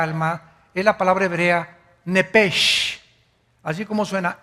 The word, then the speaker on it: nepesh: La palabra, la letra o las letras sh en del hebreo se pronuncian en hebreo como J. Entonces se pronuncia nepj.